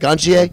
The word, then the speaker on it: Gontier: We had Adam Gontier? How do you say it? Gontier? Yeah, that's it.